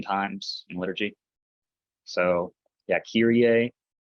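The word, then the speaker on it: Κύριε: So yeah, Kyrie, like Epsilon there. Kappa, Epsilon, Rho, Iota, Epsilon, Kyrie. Notice that accent mark above the Epsilon. Kyrie.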